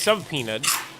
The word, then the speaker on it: subpoenaed: And then quietly, while all this is happening, Pam Bondi gets subpoenaed. So I know the B is silent. I just like saying sub for whatever reason.